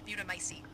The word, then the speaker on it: mutamycete: We're still analyzing the data, but it looks like he's been running experiments with an E-type mutamycete. Let's hope those men So that's how it's pronounced.